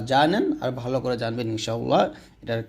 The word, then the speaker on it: ইনশাআল্লাহ: আর ভালো করে জানবেন ইনশাআল্লাহ এটার কি হাদিস আছে তো অবশ্যই আপনারা ইনশা এখানে অবশ্যই গুণনা করবেন ইকফা গুন্না করবেন এখানে ইনশাতে চাই দিতে হয় শুদ্ধ করে উচ্চারণ করলে ইনশা আল্লাহ এরকম তো